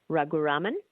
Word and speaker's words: Raghuraman: My surname is Raghuraman.